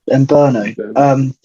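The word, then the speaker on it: Mbeumo: How's it pronounced? Mbumo.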